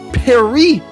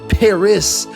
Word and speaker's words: Paris: paris or whatever and napoleon taking offense to how jesse pronounced paris says perry not this paris you americans with your